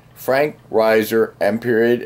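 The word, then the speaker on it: Reiser: and mineral identification followed by my name Frank Riser space capital M period capital S period rap Riser is spelled r-e-i-s-e-r I encourage you to watch my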